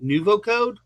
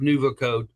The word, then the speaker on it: NuvoCode: with Joe Lewinsky, who is with if I pronounce this correctly, NuvoCode. Is that the correct name? That's correct. Yep, NuvoCode Technologies.